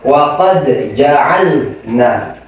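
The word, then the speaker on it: وقد جعلنا: Wa qad ja'alna. Wa qad ja'alna. Lidahnya agak ditempelin banget.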